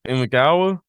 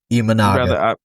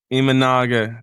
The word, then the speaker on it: Imanaga: my dude I'm not going to try to pronounce his last name, but Shoto Imagawa Imanaga Imanaga, thank you.